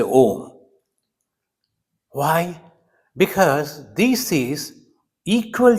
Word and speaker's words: Om: and shami VI said it is rolling from the Neville then coming to the throat and then coming out a o Mo and if if you